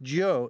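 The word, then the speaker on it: 九: world C for China the number nine is pronounced Joe in Chinese meaning longlasting and 19 for the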